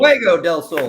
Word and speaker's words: Fuego del Sol: Am I pronouncing it right? Fuego del Sol. Fuego del Sol.